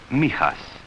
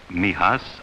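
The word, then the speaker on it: Mijas: near the southern coast it is pronounced Mias for most of my boys Mias outside the window There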